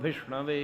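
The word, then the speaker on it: विष्णवे: और बैठा बोलता रहता वैष्णो देवी नमः विष्णु वे नमः शुद्ध उच्चारण है विश्नोई नमः विष्णु वे नमः शिव महाप्रभु ठीक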